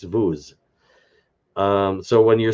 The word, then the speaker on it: vous: But if I say "Parlez-vous français," you don't pronounce that S on the end of the word vous. It's the word vous, not the word vous.